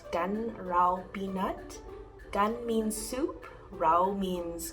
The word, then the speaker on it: pi nat: It's called Canh Rau Pi Nat. Canh means soup, rau means green vegetable, and pi nat is how my mom pronounced spinach.